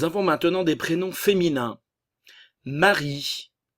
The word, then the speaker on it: Marie: Marie, le E final ne se prononce pas.